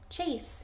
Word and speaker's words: chase: chase or chase go you probably pointed to long a chase let's see if there's an e at the end is there that bossy e chase is going to make the a say its name alright the next one